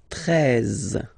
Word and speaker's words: treize: Then now if you combine this E and E, you get the sound E, really open. Treize, treize. Final E, as usual, not pronounced. Treize, treize, okay?